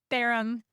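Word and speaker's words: 바람: Barham. Barham. Okay. It sounds like harem, except it's Oh, that's Barham.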